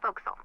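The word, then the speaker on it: forecastle: ship but it's pronounced Fel why is that try pronouncing it like an English sailor with no formal education F Castle fil over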